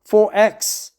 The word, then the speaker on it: XXXX: The mid-strength XXXX Gold is one of Australia's most popular beers, but the XXX pronounced 4X brand is strongest within the Sunshine State, where it's as cherished as mangoes, Powderfinger, and Welly Lewis.